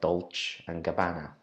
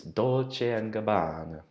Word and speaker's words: Dolce & Gabbana: When you look at this word, it looks like Dolce & Gabbana. But it's Dolce & Gabbana. And that's how you pronounce it.